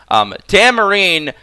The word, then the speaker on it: Tamarinne: If you look at Tamarinne's, Tamarinne, I always say Tara, I don't know why I do that. Sorry, I do apologize. Take a shot every time I mispronounce her name. Tamarinne, excuse me, has a built in, just like